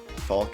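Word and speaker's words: Falke: combine these next two edin faulk falc is is how you pronounce it whatever i honestly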